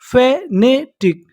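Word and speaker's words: fanatic: एफ ए फ ए एन ए ने टी आई C tick. फेनेटिक फेनेटिक।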